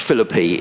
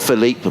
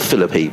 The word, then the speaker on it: Philippe: Thank you very much to Jake, who said it's Josh Philippi is the correct Josh Philippi is the correct pronunciation of his name. So not Philippe, but Philippi.